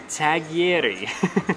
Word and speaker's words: tagliere: It's pronounced tagliere, something like that.